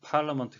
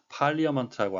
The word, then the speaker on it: parliament: 라는 뜻의 달아 인데요 정확한 발음은 팔라 먼트 가 되겠습니다 이해 의 발음은 없는데 오늘의 아나운서는 이것을 그냥 그대로 철자를 읽어서 팔리어 많다고 하는 실수를 했습니다 다시한번 드실때 에 파울러